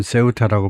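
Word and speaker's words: Ceuta: 그런데 세우타가 발음은 세우타라고 발음하고 어타나 오브스페인 스페인의 자치 자치 도시 그 행정적인 지위는 스페인의 자치 도시입니다.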